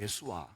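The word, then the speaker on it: Yeshua: 자, 여러분 예수, 구원이라고 하는 예수가 히브리 말로 원 발음대로 하면 예수아잖아요. 예수아.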